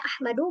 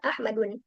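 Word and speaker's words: أحمدُ: Tapi di sini dibacanya ahmadu bukan ahmadun karena dia ee apa? Ee merupakan isim alam ala wazan af'al.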